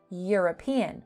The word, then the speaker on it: European: Very different from European, which has a Y sound.